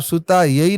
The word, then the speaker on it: सुताय: जी अगर आप सुता यही नमः कर देंगे तो सीता जी का नाम आ जाएगा। हाँ, उच्चारण सुताय, सुताय पुरुष जी।